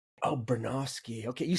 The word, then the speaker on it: Bronowski: I get that I get everyone's name wrong, by the way. It's Bernoski. Oh, Bernoski.